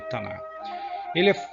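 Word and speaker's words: Tanakh: A pronúncia seria Tanar.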